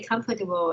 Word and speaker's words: comfortable: I stay in a luxury hotel, so I we are staying in a very comfortable and expensive hotel. Yeah, just comfortable. We don't pronounce just here. A is silent.